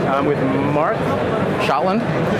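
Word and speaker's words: Schotland: Moab m o a v I'm with Mark shotland shotland that's how you pronounce it yes s c h o t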